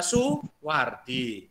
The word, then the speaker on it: Soewardi: oke dibaca uh tengkleng Raden Mas soewardi dibaca Suwardi Suryaningrat tadi Suryaningrat terus